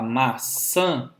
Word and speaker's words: maçã: colocar o seu dedinho embaixo do nariz e falar maçã, você vai ver que parte do ar sai pelo nariz. Diferentemente de quando você fala massa. Massa é apenas oral. Maçã tem essa última sílaba como sendo uma sílaba nasal.